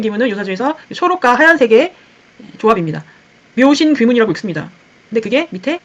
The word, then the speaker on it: 묘신귀문: 묘신 귀문이라고 읽습니다.